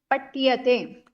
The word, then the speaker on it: पठ्यते: ट नहीं, ठ का उच्चारण कीजिए। क्यों ट और ठ दोनों एक जैसे बोल रहे हैं? ये ट पठ्यते। है, ये ट है, और ठ में क्या है? ये ठ। ठ है।